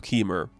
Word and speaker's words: Kemur: I'm going to say it like lemur but with a K. So Keemmer, he was there before everything.